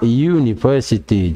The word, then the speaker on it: university: Ya, ini juga ditulisnya konsonan, tapi dibacanya vokal, university.